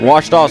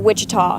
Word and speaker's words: Ouachita: OUACHITA. OUACHITA. Is it pronounced Ouachita? Searching for Ouachita Baptist University. Back in Texas, everybody pronounces it Wichita, but really it's Ouachita.